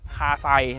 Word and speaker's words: KASEI: ตัว นี้ ฟ้อน ตัว หนังสือ ตัว นี้ นะ สะกด ง่าย เลย KS di แบบ นี้ ดี นะ KS AI ไม่ ใช่ ไม่ ใช่ คาไซ นะ ครับ อ้า นี่ ต้อง เป็น แบบ นี้